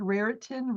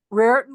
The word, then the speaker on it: Raritan: Absolutely, the cover, I love it, and it's the how do you pronounce that word? Raritan River. Raritan River.